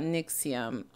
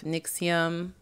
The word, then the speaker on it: NXIVM: we're talking about we're talking about nixium if you haven't heard of nyxium um kind of good for you it is spelled nxivm and there is a